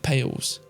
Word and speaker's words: Palais: Pronounce the last word as Pales.